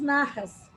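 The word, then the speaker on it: Nahas: Então, se você estiver anotando aí, tem um autor chamado Marcos Narras. Narras se escreve N-A-H-A-S. Marcos Narras, ele fala muito que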